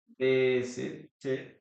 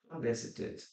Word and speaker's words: visited: In this case, we pronounce the letter E here.